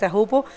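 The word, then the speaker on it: Teahupo'o: And this wave does the same thing as there in tops in Tahupo. That's the right way to say it, Tahupo.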